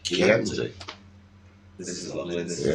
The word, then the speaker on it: Chianti: It's not pronounced Chianti, it's pronounced Chianti.